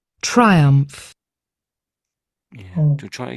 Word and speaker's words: triumph: So triumph, but it's like an F sound on the end.